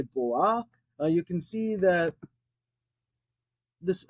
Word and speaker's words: בוא: type in there well some people actually will just say Bo is there a pronunciation to leave that alif on the end unpronounced I like pronouncing it um so they'll say Bo I say boa you can see that